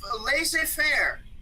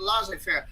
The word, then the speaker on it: laissez-faire: Leave it to laissez-faire, or some pronounce it laissez-faire.